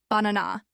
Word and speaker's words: banana: This word has 3 syllables, banana, but we don't say all 3 syllables with equal stress. In English, we stress the middle one, so we say banana, not banana or banana.